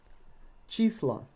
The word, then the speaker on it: числа: Числа. Числа. We replace O with A, and again we got floating emphasis. Числа.